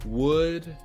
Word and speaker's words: would: using would or could the l is silent would or could if the words are